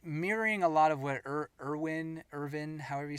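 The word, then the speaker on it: Erwin: a lot of what Irvin, however you say it. I say Irvin because Mhm. in German the W's are pronounced like B's.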